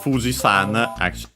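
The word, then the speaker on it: 富士山: So yeah, uh uh Mount Fuji uh uh the accent is on the uh uh on the FU. Uh and yeah, so Fisan is accented on the FU.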